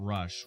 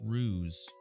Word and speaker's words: Ruse: Not Rush, Ruse.